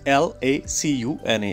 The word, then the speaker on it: lacuna: So the real pronunciation of the word is lacuna.